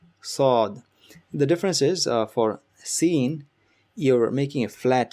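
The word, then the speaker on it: سين: Same place, place the tip of your tongue at the bottom of your lower jaw, lower teeth, and make the sound like hissing of a snake. S to this, seen, Seen.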